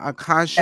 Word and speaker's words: Akasha: I thank you, Akasha. That's how you pronounce it. Super Akasha, Yes.